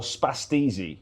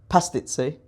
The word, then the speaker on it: pastizzi: Um they're famous for spastizzi, which is a savory pastry. And it's also an Italian with too much CTE. Did you know that? Uh I think it's pronounced pastizzi.